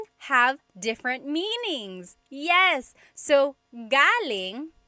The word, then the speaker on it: galing: So, galing the emphasis is on the first syllable that means coming from. David Jr. on Instagram just asked the same question, too. Galing means good or great. So if the emphasis is on the second syllable, galing that means good or great or excellent.